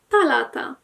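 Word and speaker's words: ثلاثة: Na przykład litera ta czytana jest po prostu jako ta. I na przykład w słowie trzy, czyli talata, Egipcjanie powiedzą po prostu talata. I chociaż zapisując to słowo, nawet w dialekcie egipskim, oczywiście użyją litery ta, to i tak czytać będą jako zwykłe te.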